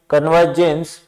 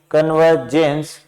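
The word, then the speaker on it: convergence: यहां पर भी देखो, आपको ओ की साउंड नहीं करनी है, ए की साउंड करनी है। कन्वर्जेंस, रे की साउंड भी नहीं करनी है। कन्वर्जेंस, यहां पर जी ई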